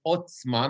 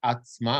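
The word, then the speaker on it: עָצְמָה: a tiny thing is the word is otsuma not atma i know it's a kamat but this is one of those places that is a kamatsuka town we pronounce it as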